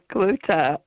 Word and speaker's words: Cloete: o e te and my husband always says I'll give you a clue to so that's how you pronounce it Kut great oh thank you